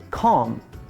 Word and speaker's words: calm: Далі, наступне слово читається без літери B. Calm.